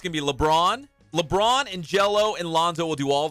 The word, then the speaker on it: Gelo: with what do you say his name is jello melon little ball middle ball middle ball is